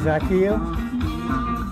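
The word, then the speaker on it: Zakelj: hardest name on the whole roster here to pronounce it zacchaeus offensive tackle out of fordham he's 6'6 and 316 pounds he ran a 5 13 40.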